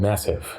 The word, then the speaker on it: MASEF: about it's actually called massive it stands for the metabolic Advanced Seattle hepatitis fibrosis core okay so the a is a short day not a long a okay I stand corrected